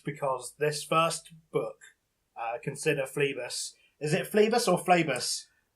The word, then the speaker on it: Phlebas: It's a silent S, mate. You don't know anything. It's actually Phlebas.